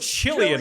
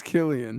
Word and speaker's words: Cillian: You're going with Chilean on that pronunciation, huh? That's how it's pronounced, right? Chilean. It's Chilean, is it not? He's straight Chilean. I believe is it Killian? It's Killian. It's Killian.